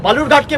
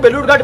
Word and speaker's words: বালুরঘাট: আরে আপনি যেখান থেকে লড়ছেন তার নাম ভুল উচ্চারণ করছে, বিকৃত করে বালুরঘাটকে বেলুরঘাট বলছে। আপনি গিয়ে বলতে পারেন না যে অমিতজি এটা বেলুরঘাট নয়, এটা বালুরঘাট?